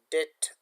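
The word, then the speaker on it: debt: B remains silence before T.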